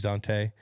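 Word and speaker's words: Dont'a: mad at me when I call him dant but his name is Dante um and then Demario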